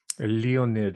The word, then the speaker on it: Leonid: Leonid, as in Leonid Brezhnev.